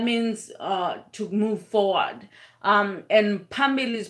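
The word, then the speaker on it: amandla: to move forward and Pamela's pronoun is spelled pH a MB I li okay so that that's that was one of the word and everybody could pronounce that because it didn't have any clicks to it and also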